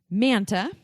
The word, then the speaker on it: Manta: episode of with Ashleigh manta I said it right mantle like Santa this is what she